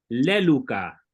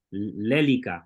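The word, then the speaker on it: λέλυκα: primera persona singular, yo, leluca, que significa he desatado. Recuerden que lío significa desatar. Bueno, lélica, ¿verdad? Siempre van a escuchar pronunciar la Y como U porque así lo aprendí en la escuela, pero voy a tratar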